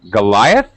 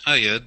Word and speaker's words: Ayad: Goliath? Is that right? Hello. Hello. Is that really your name? Goliath? No, it's Ayad.